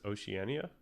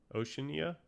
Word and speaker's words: Oceania: Oceanania. Oceania.